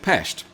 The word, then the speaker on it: Pest: engineered chain bridge that first linked Buddha with Pesht.